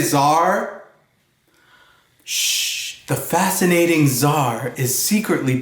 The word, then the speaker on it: czar: and perfumes see is forzar can you say czar the fascinating czar is secretly part check oh